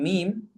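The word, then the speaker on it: م: And then the letter mim, again, same thing, closing the two lips. And im. Again, the letter mim is by closing the two lips, okay, just bringing them together, okay, sealing them shut. And mim is and im.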